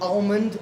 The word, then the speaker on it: almond: it almond or almond so I said it's almond that's how you like you can Google that people say I'm pretentious but that's how you say it do not almond no it's like salmon you don't say salmon it's that same oh it's a silent it's a silent L but who says I